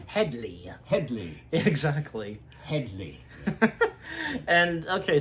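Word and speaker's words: Hedley: I don't think Hedy even Lamarr like sometimes they get it, they mispronounce his name. It's Headley.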